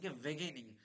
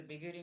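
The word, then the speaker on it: beginning: শেষ কোশ্চেন সেটা হচ্ছে বেগেনিং গেনিং যদি আমরা জানি তাহলে বিগেনিং মানে কি শুরু বা আরম্ভ তাহলে কি যেরকম বলি তাহলে বেগেনিং তাহলে দেখেনিং কিন্তু হবে না এটা বেগনিং বিগিনিং উচ্চারণটাই আমরা ঠিক করতে পারলেই কিন্তু হয়ে যাবে।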